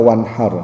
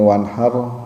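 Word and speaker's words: وانحر: ta pakainya fasholli lirabbika wanhar nah ini wanhar wanhar atau wanhar wanhar kecil ya jadi ha kecil ada ada Ha Ada Ha kadang kalau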